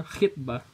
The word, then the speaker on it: khitbah: Yang satu dibacanya khutbah, kalau lamaran dibacanya khitbah.